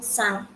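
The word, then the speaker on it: สร้าง: Nah, sosela dan juga rora ini akan diucapkan menjadi huruf S saja. Nah, contohnya di sini ada sang, yaitu yang terdiri dari sosela, rora, maiek, dan juga ada sara-a dan juga ngongu. Dibaca dengan sang.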